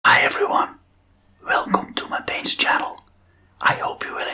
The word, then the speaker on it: Matijn: So may name is pronounced like /mɑˈtɛi̯n in America they don't use the "ij". They just say /mɑˈtēn/ or something like that. But it's /mɑˈtɛi̯n/ Matijn; Matijn.